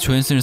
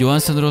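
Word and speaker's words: Johansson: 그녀의 이름은 스웨덴계 성이지만 미국인이기 때문에 외래어 표기법에 맞게 미국 영어식 발음을 딴 스칼렛 조헨슨을 사용하며 그녀 본인도 이렇게 발음한다고 합니다. 국내에선 처음 그녀가 소개될 당시 스칼렛 요한슨으로 소개되었기 때문에 자연스럽게 그 이름이 굳혀진 거라고 하죠.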